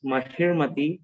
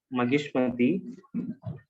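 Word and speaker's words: Mahishmati: And I could find there is a mispronunciation in the word, that is, it's Mahirmati, not Magishmati.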